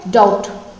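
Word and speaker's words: doubt: Next word क्या है, डाउट। डाउट बोलेंगे तो क्या होगा, डाउट बोलेंगे तो क्या होगा, बी साइलेंट हो जाएगा, ठीक है। डाउट बोलेंगे तो बी साइलेंट हो जाएगा।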